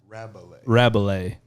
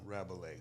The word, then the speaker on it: Rabalais: Rabalais. And Just, that's short for... It's pronounced Rabalais, but the way that we say it or